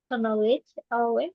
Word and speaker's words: knowledge: Knowledge iya. Nah, ininya huruf K-nya itu enggak usah dibaca. Jadi, langsung aja knowledge knowledge.